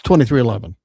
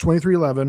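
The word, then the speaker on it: 23XI: So they put an X and I to differentiate 23 from 11. A little clever. But you pronounce 2311. Pronounced 2311 because Jordan's number was 23, of course.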